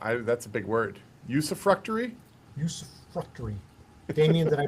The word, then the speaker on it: usufructuary: Usufructuary. Damien, did I pronounce that correctly?